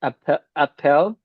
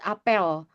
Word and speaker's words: apel: I can say it appel. How to say Apple one is apple but Indonesia so big ya some parts of Indonesia say it apel so it's ok for